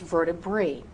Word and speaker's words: vertebrae: It should be pronounced vertebrae. But so many people have mispronounced this word for so long that the wrong way is more accepted than the technically correct way.